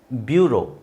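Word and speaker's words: bureau: plateau ಆಮೇಲೆ ಲ್ಯೂ ಲ್ಯೂ ಇಲ್ನೋಡಿ ಈ ಎ ಯು ಈ ಎ ಯು ಇದೆ ಇದರ ಉಚ್ಚಾರಣೆ ಓ ಅಂತ ಹೇಳಬೇಕು ಅದೇ ವಿಚಿತ್ರ ನೀವು ಸಿಬಿ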